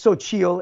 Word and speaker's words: Xochitl: It's Sochil, and you can find her at Sochil Beauty on Instagram. She's killing it. It's amazing. So to spell it is Xochitl. It's Aztec. Dope.